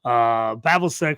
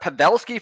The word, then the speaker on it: Pavelski: We got Pavelski for Dallas. Pavelski, thank you. Yeah, that's right. And we got Roenick for Vancouver. And so the deal is I acquired Pavelski and I sent Roenick, and it was straight up.